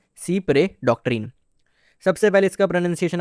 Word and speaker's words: Cy-près: इसको कुछ लोग साइप्रेस भी प्रोनाउंस करते हैं। लेकिन इसकी सही प्रोनाउंसिएशन है सी प्रे।